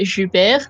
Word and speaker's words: JuBer: To know also that JuBer, that is how you pronounce that, and Dane both got a bomb off a guard early, so that's nice.